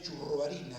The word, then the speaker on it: Churruarin: sacerdote pariente nuestro me acá se escribe chorroarín por por el hecho de la del apellido Vasco que era con TX y cuando bajaron del barco lo escribieron como sonaba y de ahí la diferencia entre yo y tú